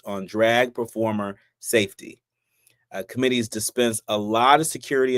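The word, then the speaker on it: Qommittee: Um but it's pronounced committee.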